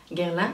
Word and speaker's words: Guerlain: Guerlain, como lo pronunciáis, Guerlain en francés.